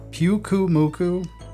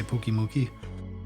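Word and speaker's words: Pyukumuku: Puku Muku, I guess is how you pronounce it. I always say Pooky Mookie.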